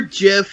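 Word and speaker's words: GIF: mcdonalds brawl a bizarre jiff of is pronounced jiff goddammit you on your net it otherwise I'm from the 90s it's jiff thank you a bizarre Jeff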